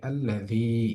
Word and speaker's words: الذي: আমরা যদি এই আয়াতের দিকে তাকাই, আল্লাযী, এখানে এসে একালিক পরিমাণ টান হচ্ছে দি শব্দটার মধ্যে।